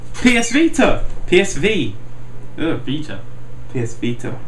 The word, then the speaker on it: Vita: PS Vita. Not Vita, they actually pronounced it right.